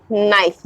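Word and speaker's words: knife: जिसमें P silent है नाइफ जिसमें के साइलेंट है एंड कैश शल जिसमें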